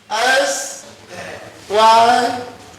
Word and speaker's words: synagogue: S-Y-N-A-G-O-G-U-E. Synagogue. That's correct. Clap for me. S-Y-N-A-G-O-G-U-E. It's pronounced synagogue. Everyone say synagogue. Synagogue. Not synagogue.